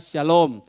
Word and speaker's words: Shalom: ya saya jawab ya kalau SH Shalom sama saja dengan asylums hanya Kalau saudara menulis teksnya bahasa Inggris Maka sudah harus pakai SH tetap bacanya Syalom Syalom Everybody ya kalau